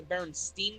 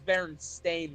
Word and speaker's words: Berenstain: or SCA Aaron hey like I'm at the Berenstein bears or berenstain bears Bernadine and I asked no it's berenstain bears see I went pronounce it like that